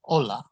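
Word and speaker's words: hola: mute so examples are ola the h is there in the spelling but there's no pronunciation of it double l is a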